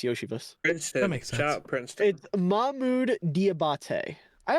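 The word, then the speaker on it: Iosivas: Andre yosias Yoshi ah is that how you say his name yeah it's yosias princet Princeton mmud diabate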